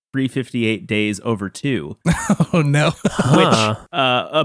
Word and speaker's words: 358/2 Days: and on that episode I called it 358 over two days not realizing that the actual way you're supposed to pronounce it is 358 days over two oh no which uh